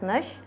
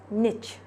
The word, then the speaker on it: niche: It is that this word niche can be pronounced as niche or as niche. It depends on which type of English you are using.